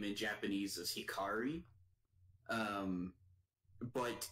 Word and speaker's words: Hikari: I don't doubt that Kari's name in Japanese is Hikari. But in the dub I watched, they call her Hickory. Huh. Which they're trying to say Hikari, but they're saying it wrong.